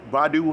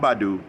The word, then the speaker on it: Badu: was a restaurant that badu had not baidu brother polight had a